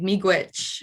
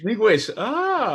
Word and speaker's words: Miigwech: Miigwech. Miigwech. Miigwech.